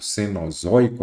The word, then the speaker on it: cenozoico: Então, eu já vi aqui que, neste caso, cenozoico, a sílaba tônica é a penúltima, a paroxítono.